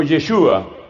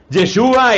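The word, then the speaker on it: ישוע: Que en hebreo se pronuncia algo así como Yeshua. Yeshua era su nombre, pero ahora se llama Yeshua y se llama Christos porque ha sido ungido.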